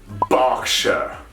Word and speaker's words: Berkshire: get it moving on berkshire bark sure like a dog barking and then squeaking berkshire not berkshire certainly not shy whenever you see the shire it's actually more of a sure this is a county